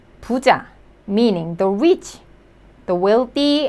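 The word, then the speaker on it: 부자: The second syllable, J sound and then a, so pu cha. Puja, meaning the rich, the wealthy and the rich people.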